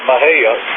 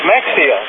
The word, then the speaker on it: Mexia: Texas there that real well how do you spell that Maha m x i a wow that's Mexia no X is pronounced H I said